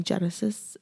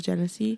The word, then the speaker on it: Genesee: It's literally 3 syllables. Genesis. Because you know what? All of these years, people always call me Genesis instead of Genesee.